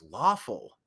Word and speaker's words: Lawful: there Andrea lawful Sanders lawful rhymes with awful but lawful that's an